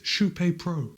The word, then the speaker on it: Kype: that word KYPE and you're going to want to pronounce it KYPE. But by now, I've said it so many times, you know that the correct way to pronounce the name of this shoe is KYPE PRO.